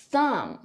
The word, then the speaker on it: thumb: 第三个 MB 结尾 B 不发音，比如 Climb, Thumb.